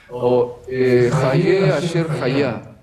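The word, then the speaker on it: Ehyeh Asher Ehyeh: E agora no hebraico, vamos lembrar isso, falamos em Jonas, se lembra, está no hebraico, se pronuncia assim, Hayeh Asher Hayah.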